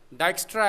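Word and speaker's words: Dijkstra: ये डच नाम है थोड़ा सा, इसमें जे साइलेंट है, डाइक्स्ट्रा एल्गोरिदम।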